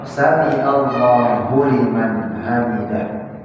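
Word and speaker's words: سمع الله لمن حمده: mahalendengar bilin bukan Hamzah samiah salah samiah harus samiah huliman pakai h besar Hamidah Hamidah hak kecil baru hak besar jangan hak semua Hamidah Sami Allahu liim Hamidah salah samiallahu liman hamidah juga salah karena Hamzah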